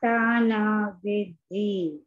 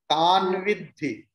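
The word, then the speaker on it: तद्विद्धि: Matta eveti tana vidhi. Tan vidhi. Tana vidhi. Not tana. Tan vidhi. Na is half, Amma.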